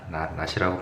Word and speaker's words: 낫: 이거 물결이 아니라 낫이야. 낫이라고 발음한다.